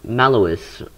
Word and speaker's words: Maloss: playing a camp or a campaign mission on mellowest that's how you pronounce it um but yeah let's just launch